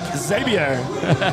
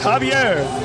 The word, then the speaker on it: Javier: easy one come on it looks like zavier but it's Javier Javier Sanchez the ex